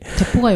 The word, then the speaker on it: depot: 그 대포 주사라는 게 그러니까 한 번에 막 확 집어넣어서 몇 달 가게 만들어 놓은 그런 주사인데 대포가 영어예요, 영어. 아 그래요? 네. 예, 대포 DEPOT T는 묵음.